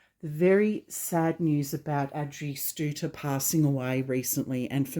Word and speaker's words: Adrie Stoete: reached out to me and clarified how to pronounce her name correctly which is actually Adrie Stoete (Ad-ree St-oo-ter) not what we usually hear which is Ay-dree Stoo-et-tee or Ay-dree Stow-tee, her name is actually pronounced Ad-dree Stooter.